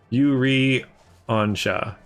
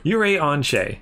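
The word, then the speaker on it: Urianger: Yuri Onsha.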